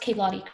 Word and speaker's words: Kaylottie: So it was relating to, it's pronounced Kaylottie, correct? Yeah.